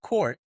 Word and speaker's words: CUURT: It's pronounced court, Okay.